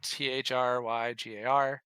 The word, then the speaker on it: Thargar: It was Thargar, which is Thryggar.